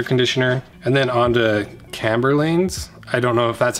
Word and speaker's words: Chamberlain: Okay, I just looked it up, it's Chamberlain. That's how you say it.